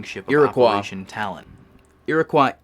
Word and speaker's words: Iroquois: Iroquois is how you pronounce that word.